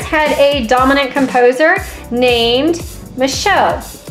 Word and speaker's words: Machaut: a dominant composer named Michelle Michelle is spelled m a c h a u t and in this case in France of course the c h makes the Sha sound um I honest to